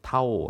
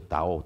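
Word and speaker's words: 道: 그대로 옮겨 옮겨왔는데 루이스가요 말을 쓸 때는 중국어 발음으로 나오 이렇게 그대로 옮겼어요 옮겼어요 타오 타지만 보통 영어로는 하기도하고 하기도 하는데 어 아마 좀 더 정확한 김은 오겠죠 다오 다오 이즘이 말을 쓰는데이 도라는 말은 어 그냥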